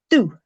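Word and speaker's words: Dubh: First one, and again, repeat after me, do. The BH is not pronounced at the end of the word in this case.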